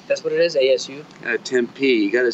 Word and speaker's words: Tempe: Tempe, you got to say it right. Tempe, Arizona.